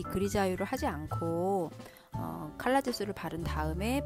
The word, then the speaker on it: Grisaille: 그래서 이곳을 검색을 해보실 땐 그리자유 좀 처음 들으시는 단어일 수 있는데요. 그리자유라고 검색을 해보시면 이렇게 이제 뭐 발음을 제가 들어왔더니 그리자일 뭐 이런 식으로 프랑스 말이에요. 프랑스 단어인데 요 기법이 이렇게 회색으로